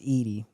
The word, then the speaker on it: Edie: Actually, it's pronounced Edie.